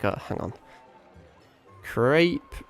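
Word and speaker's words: crêpe: I don't know, there's a thing about the French accent that I can't do. They like roll their tongue somewhere. Crepe. Crepe. I'm gonna crepe your cheese, bro. That's annoying me now that I can't say it like that. Crepe. Crepe. I guess you're kind of just getting rid of the A, aren't you?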